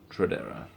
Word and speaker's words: tradera: Italian man tradera tradera I have a problem with with English pronunciation of words TR Traer there's like a CH every time there's a TR R just be traera traera I don't like the the CH sound the TR we make a CH and then